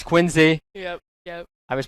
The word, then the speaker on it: Quincy: Like, I pronounce it Quincy. Apparently it's Quincy.